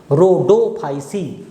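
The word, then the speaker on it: Rhodophyceae: याद रखिएगा pronunciation रोडोफाइसी।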